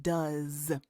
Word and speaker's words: does: And it sounds like it has a Z at the end, does.